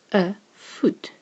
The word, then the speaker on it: voet: A O and an E next to each other gives you a U sound, like in the word foot. A foot, same as the English foot. It sounds exactly the same, but is spelled correct